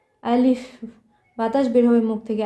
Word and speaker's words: আলিফ: আরবি হরফ মুখস্ত করতে হবে এবং কোনটার কি উচ্চারণ তা আমি আপনাদের দেখিয়ে দেব দেখুন এক দাগ আলা এটাকে আমরা কি বলব আলিফ আলিফ আলিফ বাতাস বের হবে মুখ থেকে আলিফ এই যে